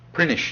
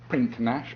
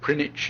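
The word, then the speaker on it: Prinknash: Prinish is how you say it. Says prinach but it's prinish apparently or prinich even.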